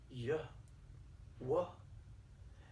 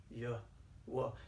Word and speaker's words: Yahweh: sound with three letters like the yhw is pronounced yeah well or listen to this yw it's pronounced ya well do you know where so ancient way back